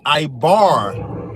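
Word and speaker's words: עבר: That's why the first thing I said it came from Eber or in Hebrew it would be I bar. That's actually how you would pronounce it.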